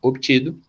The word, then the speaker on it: obtido: Demonstra o resultado obtido, o trocado. O B é mudo e o T não.